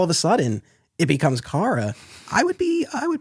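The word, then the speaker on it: Kara: in Kryptonian day school and it's like it's pronounced Cara so all right cool I I feel for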